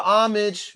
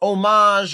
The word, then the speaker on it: homage: It's a homage or homage or however you want to pronounce it to the Watts prophets, who many say are the first manifestation of rap.